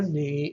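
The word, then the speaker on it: νι: But the letter ni is a dental nasal.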